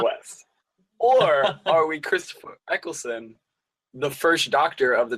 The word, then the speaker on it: Eccleston: Uh, are we Kanye West or Christopher Ellickson? Is that how you pronounce his name? Eccleston.